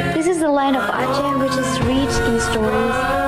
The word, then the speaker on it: Aceh: Aceh. That's how you say it. Aceh.